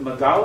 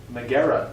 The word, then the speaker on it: Megara: Let's see, was it Magala or Megara? Megara. You got it. Megara. I didn't Very pronounce it good.